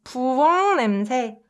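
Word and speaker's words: 부엌 냄새: If you try to pronounce it fast, it becomes 부엉 냄새, 부엉 냄새, 부엉 냄새.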